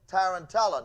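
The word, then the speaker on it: tarantella: saying it right called tarantala now I know I'm saying that right for those who might be alarmed don't worry it's not saying tarantula if anyone in here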